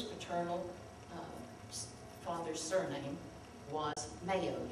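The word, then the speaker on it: Mayieux: i e u x still pronounced mayo and that's interesting enough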